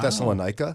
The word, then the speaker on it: Thessalonica: And you'll see it just Thessaloniki. Is that how you pronounce that? Now, in modern day, yeah. But wasn't it Thessalonica Yeah. before? In King James.